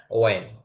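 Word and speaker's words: when: উপরে চারটা যা আছে এখানে কিন্তু আপনার এইচটা উচ্চারণ হবে না, হোয়াট না হোয়াট, তারপরে হোয়াই না ওয়াই, তারপরে হোয়ার না ওয়ার, তারপরে হোয়েন না ওয়েন, এইচটা উচ্চারণ আসবে না।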